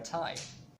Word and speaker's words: Tai: You may be confused because it sounds the same as Thai, which is the language of Thailand, and actually they have something to do with each other. Notice that the word Thai for the language family is spelled as T-A-I, without an H.